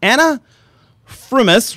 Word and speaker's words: Frumis: And it is Anna Frumis, right?